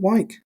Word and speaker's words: Wyke: Is it Wyke? That's how you say it.